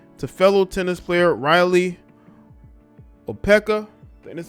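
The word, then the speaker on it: Opelka: most recently linked to fellow tennis player riley o'pekka that's how you say it oppelka but neither of them ever confirmed a relationship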